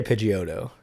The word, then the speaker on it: Pidgeotto: pid pidgeotto pagoda pidgeotto i say pidgeotto pitch i feel like i say i hit the e sound but i hit it quick pidgeotto i don't think i have to say the sound and then a lot